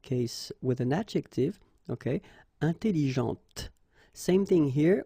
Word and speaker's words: intelligente: Intelligente. Same thing here. When you put this well, actually you will pronounce the final T, okay, but you don't pronounce this here. Intelligente. Okay, so une voiture, elle parle, intelligente.